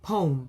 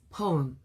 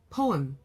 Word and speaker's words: poem: so I would say poem poem." And then later I found out, "Ah, this is supposed to be a two syllable word.